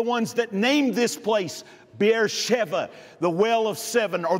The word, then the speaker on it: Beersheba: your notes this morning beersheba is actually the roman pronunciation of the city in hebrew it is bear sheva bier meaning well shiva